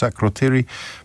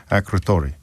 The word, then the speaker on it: Akrotiri: Please, can you ask your journalist to pronounce Akrotiri properly? They keep saying Akrotori.